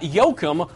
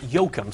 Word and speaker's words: Yoakum: And our weekly winner is Tanya Yoakum, or Joachim, depending on how you pronounce it. Joachim. I knew a guy who actually pronounced it Yoakum. So we're going to go with that. Tanya gets a prize package from Parkview.